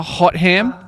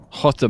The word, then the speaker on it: Hotham: a hot ham, like a roast ham, like hot ham. like a cooked ham? Yeah, or like a turkey. It's pronounced Hotham. Hot them.